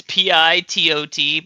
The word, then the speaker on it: Pitot: It's PITOT, by the way, guys. Yeah. Yes. Wait, how do you spell it now? Real question. PITOT. PITOT. It's like a pivot.